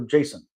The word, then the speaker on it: JSON: And how do people pronounce it? JSON or Jason? JSON's how I've heard it pronounced, but God knows. Yeah, interesting. They both seem fine. Oh, okay. But you've never heard Jason? I've probably heard it, but I think most people say JSON.